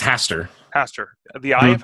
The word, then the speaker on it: Hastur: Am I pronouncing that correctly? Eye of Hastur? I believe it's Hastur.